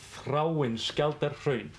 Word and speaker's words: Þráinsskjaldarhraun: So you say Þráinsskjaldarhraun.